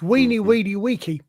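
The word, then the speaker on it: veni, vidi, vici: And it is properly pronounced the Principia Mathematica. It's weeny weedy wiki.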